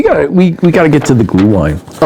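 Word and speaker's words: Glühwein: Anyway, let's move along cuz we got to we we got to get to the glue wine.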